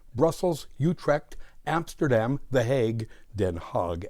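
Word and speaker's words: Den Haag: utre Amsterdam the heag den hog as the Dutch pronounce it antp gent leil C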